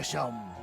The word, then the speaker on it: Seam: Se pronuncia Shaom.